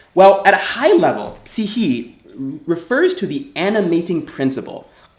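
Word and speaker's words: ψυχή: the ancient Greek word psyche. That's how you pronounce it. It looks like psyche, but it's actually psyche is actually how you pronounce it in modern Greek.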